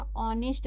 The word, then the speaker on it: honest: ए लेकिन यहां पे एच को साइलेंट किया गया। ऑनेस्ट पढ़ेंगे इसको।